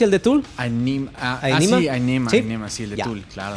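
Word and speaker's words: Ænima: Y Aenema se pronuncia el de Tool. Aenema, sí, el de Tool, claro.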